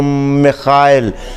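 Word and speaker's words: Михаил: तो रशिया में इसको खे करके पढ़ते हैं, तो मिखाइल।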